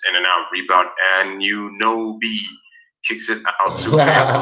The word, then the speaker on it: Anunoby: Lawrence Cheng sends Anunoby. That's right. That's how we pronounce it.